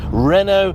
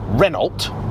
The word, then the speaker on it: Renault: What gets me is that these are Americans that also pronounce Renault Reynold and Jag as Jaguar.